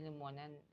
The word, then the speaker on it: limonen: Nah ini limonen, kita nyebutnya limonen bacanya. Dan kayaknya kita emang mengikuti cara bacanya orang Jepang ya.